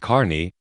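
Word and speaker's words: Kearny: Spelled Kierney, pronounced Carney.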